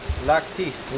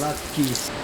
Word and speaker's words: latke: How do you pronounce it? Latkes. Latkes.